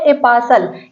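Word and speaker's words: apostle: पर T silent होगा जहां पर भी टी के बाद एल आएगा वहां पर टी साइलेंट होगा देखिए ये है ए पासल यहां पर ए पासल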